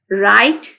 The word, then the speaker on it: write: उसके बाद हमारे पास फोर्थ वर्ड है राइट, WRITE, राइट, राइट का मतलब लिखना, तो W जो है यहाँ पे साइलेंट है।